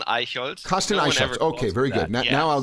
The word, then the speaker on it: Aichholz: German okay so yeah my name is aold okay very good now I'll go into the